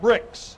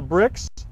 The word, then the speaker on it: Brix: But we are, we're looking at a measurement called Brix. And the word is spelled B-R-I-X.